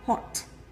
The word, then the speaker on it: hot: Từ này tưởng chừng rất quen thuộc đúng không, nhưng hầu hết mọi người đều đọc nó là hot, hot, nó có âm t đấy, nhưng mà nó lại mọi người đọc nó hình dấu sắc, nhưng thực